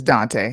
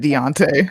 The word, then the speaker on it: Dante: His name is Dante. He said Deontay.